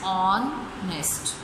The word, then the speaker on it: honest: H is silent in these words, so our is pronounced an hour, and honest is pronounced as honest.